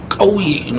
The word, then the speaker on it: kauye: But the actual pronunciation is Kauye, this glottal thing.